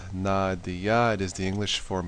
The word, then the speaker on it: Nadia: as maya's best friend nadia's pronounced nadiya it is the english